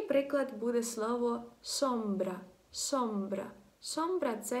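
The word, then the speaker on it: sombra: Якщо це, наприклад, українець, то часто наші вимовляють так цей звук. І я чула по собі. На початку завжди дуже я довгий час так вимовляла, як «с». Наприклад, «сомбра», «сомбра», «сомбра», я казала. А треба казати «сомбра», «сомбра», м'якше так, шепелявимо, коротше, трохи.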